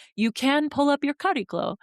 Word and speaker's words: Chariklo: can pull up your Chariklo. It looks like Chariklo, like it's spelled Chariklo, if that helps.